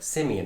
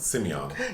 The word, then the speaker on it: Simeon: Which when they say, because when it's spelled out is one thing, but when they say it, I kept thinking like, like simian as in, monkeys, but... But they pronounce it Simeon.